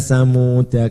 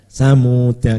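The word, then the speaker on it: ثمود: Ala inna samuda kafaru rabbahum. Di situ ada alifnya, samuda dibaca samuda kafaru. Ya, ini dibaca pendek, ya. Kalau berhenti ala inna samud, ya, ini kok diberi alif, kenapa?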